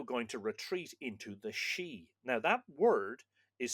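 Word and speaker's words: síd: uh she it looks like sid with a a father on the eye, but it's pronounced she like she for a woman, which is interesting, but there's no adequate translation of that word into modern English.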